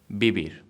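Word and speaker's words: vivir: have to know that the V in Spanish is plans like be the same sound so ba bay bee boo boo for example be beer which means to live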